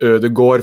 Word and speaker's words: Ødegaard: next to each other, it's also an O sound. So both of those are sort of like a thumb finger rule that that's an O sound instead of an ah sound as how you pronounce it as of right now.